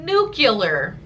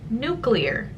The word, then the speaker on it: nuclear: something one way it becomes a valid possible pronunciation for it which is like nucular which is not how you say that word new killer is not a thing its nuclear everyone says new killer and it drives me